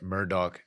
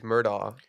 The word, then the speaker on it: Murdaugh: that Murdoch documentary. Remember I told y'all about it? Dude, it's Murdaugh.